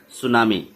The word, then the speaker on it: tsunami: सुनामी. ये है आपका चैप्टर द सुनामी. सुनामी का स्पेलिंग होता है TSUNAMI. ये लिखते हैं टी सुनामी बट पढ़ते हैं सुनामी.